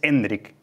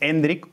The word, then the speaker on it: Endrick: como yo creo que la forma más natural de llamarle es hendrick que es como se dice su primer nombre Porque é se llama hendrick Felipe su primer nombre es hendrick con acento en la e es la mejor forma